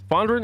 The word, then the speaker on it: Fondren: out to Caleb Fondren Fondren is how you pronounce his name um I was gonna